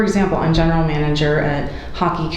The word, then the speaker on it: Haki: So I recognize, for example, I'm general manager at Hockey Community Organization, it's spelled HAKI.